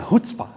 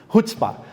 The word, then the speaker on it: Chutzpah: eu trago aqui, que está escrito ali como Chutzpah, que a pronúncia é Chutzpah. Toda vez que tem um CH é Chutzpah.